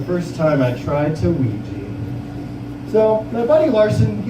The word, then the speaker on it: Ouija: The worst part about Ouija is that not a single letter in that word is used to produce the sound it makes. Every letter is silent, and then a few invisible letters make a sound.